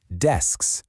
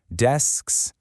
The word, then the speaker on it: desks: We're going to use that exact same strategy for our next word, desks. First part, just say des. Now add that KS sound on the end. Desks.